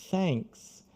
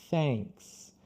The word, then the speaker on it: thanks: Por exemplo, na palavra thanks. Thanks. Então, começa com a língua para fora. Aí, assim que você pronunciar o TH, thanks. Thanks.